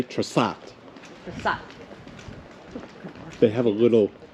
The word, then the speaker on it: Trsat: The Croatians just say Trsat.